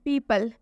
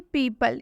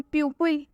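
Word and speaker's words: people: में देख सकते हैं पीपल यहां पर ई है और ई के साथ में ओ आया हुआ है तो यहां पर तो यहां पर ओ का उच्चारण नहीं हो रहा है जैसे कि पीपल इसे हम प्यूप इसे हम प्यूप नहीं पढ़ रहे इसे हम पीपल पढ़ रहे हैं क्योंकि इसमें ओ का उच्चारण नहीं हुआ है ओ इसमें साइलेंट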